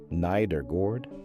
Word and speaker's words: Nedergaard: In 2012, a team at the University of Rochester, led by Jeffrey Iliff and Maiken Nedergaard, pronounced neither gord, described a drainage pathway in the brain that nobody had properly mapped.